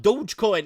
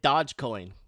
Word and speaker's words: Dogecoin: right so yeah dog dogecoin is it douchecoin or dodgecoin it's dogecoin oh i pronounced it wrong the other day i made a couple of people upset oh i was calling it dodgecoin right so i got